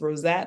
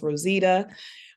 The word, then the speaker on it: Rosezette: But yes, so my name, the way it's spelled, it looks like it's Rosette or Rosetta, but it's pronounced Rosita.